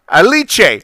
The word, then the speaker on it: Aliche: tells his genius secretary Alice whatever that is in Japanese with an Italian pronunciation aliche aliche tells his genius secretary